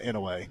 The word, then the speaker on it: Inoue: He said Inoue, so I threw an U in there, but everybody was saying just Inoue, and now that's how it is in the pronunciation guide. So we're just going Inoue.